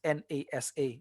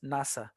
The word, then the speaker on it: NASA: You don't pronounce NASA. You pronounce it as NASA.